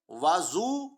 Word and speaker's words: وضو: اصل تلفظ عام طور پر اس کے دو تلفظ کیے جاتے ہیں. ایک وضو واو پر زبر کے ساتھ، اس کا مطلب ہے وہ پانی جس سے وضو کیا جاتا ہے. دوسرا وضو واو پر پیش کے ساتھ، اس کا مطلب ہے